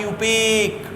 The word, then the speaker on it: IUPAC: है आईयूपीएसी और प्रोनाउंस और इसे प्रोनोस कैसे किया जाता है इअपेक किया जाता है अप